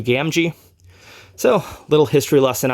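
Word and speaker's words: Gamgee: Rings fan I didn't say gamji well this was a pretty early concept art and his name was actually revised before the official release of Fellowship of the Rings so that is why it is spelled Gammy that was the original name that they were going to go by and they changed it to gamji so a little history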